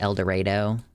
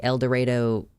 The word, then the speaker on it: El Dorado: Locals pronounce it El Dorado. Oh, is that, yeah, like El Dorado, Kansas?